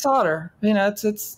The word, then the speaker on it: solder: It's solder.